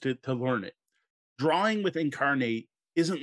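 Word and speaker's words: Inkarnate: after this in a way and that is incarnate it's spelled inc i-n-k-a-r-n-a-t-e incarnate this is to me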